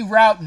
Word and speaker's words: Rowton: that story mr thai is and i say routing is that correct there ty wow you're like